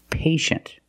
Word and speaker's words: patient: examples patient and initial with patient we see t-i-e making the sh sound patient the first syllable is a long a like day and pay pay and shin the second syllable is